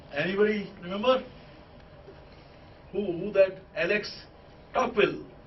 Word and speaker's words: Tocqueville: Alex Tocqueville, right? Or Tocqueville, if you pronounce it in French way.